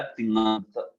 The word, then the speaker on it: तिङंत: देखिए, तिंग जो है ये, हाँ, उसके साथ अंत जुड़ा है तो फिर बन गया तिङंत। ठीक है, तिङंत ऐसा उच्चारण करते हैं इसका।